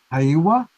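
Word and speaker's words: Heiwa: you pronounce it is hawawa yeah like a hey like hey all right so if people go to the hwa foundation I will spell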